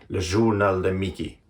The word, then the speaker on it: Le Journal de Mickey: In 1934, a man named Paul Winkler, he started publishing Le Journal de Mickey. By the way, that is the exact way it's pronounced in France.